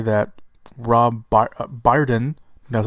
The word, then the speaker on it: Brydon: Reports say that Rob Brydon, that's how you say his name, plays Scotland Yard Inspector Lestrade.